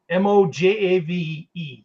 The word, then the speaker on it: Mojave: Okay, how do you pronounce that? That's in California as well. Mojave? M-O-J-A-V-E.